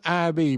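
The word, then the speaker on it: Ivy: The 4 IB leaves indicating the division number and the Roman numerals IB, pronounced IB.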